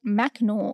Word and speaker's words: Mackinac: was shortened from Michela mcanor to just straight macnor in the 10th century and it wasn't until